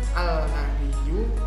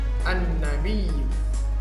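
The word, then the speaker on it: النبي: Hai seorang lagi ini cara membacanya bukan hal nabiyyu tapi langsung masuk an-nabi disini bukan Alsa biru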